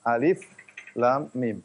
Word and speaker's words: الم: Makanya tidak dibaca alam, tetapi dibaca alif lam mim.